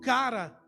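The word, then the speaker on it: χαρά: sobre a alegria essa alegria que no Grego é pronunciado como cara que quer dizer que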